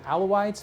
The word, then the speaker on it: Alawites: I believe they're pronounced some people call them alawites but I believe they're called aloise they are being systematically